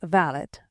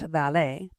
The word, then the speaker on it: valet: The valet, pronounced valot, not valet, is what Bo Brauml called a gentleman's gentleman.